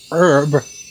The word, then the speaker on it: herb: it bugs me because, pronounce it with a H. But there's no H pronounced when, Americans pronounce herb. It throws me off. Sour. It makes you feel sour when you don't hear herb with the H.